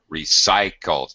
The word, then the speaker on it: recycled: again okay recycled uh recycled it's a little confusing here cycle sometimes okay bicycle we we say the y as an e sound but cycle um it's a long i sound recycled okay right all